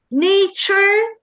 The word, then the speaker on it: nature: a couple of things nature nature the pronunciation of this uh t-u-r-e is like char nature literature um picture